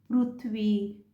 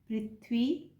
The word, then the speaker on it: पृथ्वी: काफी लोग इनका उच्चारण पृथ्वी, कृषि, ग्रह, अमृत इस प्रकार से करते हैं। हिंदी के लिए यह उच्चारण सर्वथा गलत है क्योंकि हिंदी में इसका उच्चारण पृथ्वी, कृषि, गृह, अमृत इत्यादि होता है।